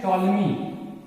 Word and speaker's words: Ptolemy: सबसे पहले देखो कि 100 AD में द फर्स्ट टाइम, सबसे पहले 100 AD में एक वैज्ञानिक थे टॉलमी। आप इसका स्पेलिंग देख सकते हो PTOLEMY, ओके।